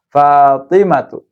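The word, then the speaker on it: فاطمةُ: Fatimatu. Maryamu. Enggak pakai tanwin, Fatimah sama Maryam.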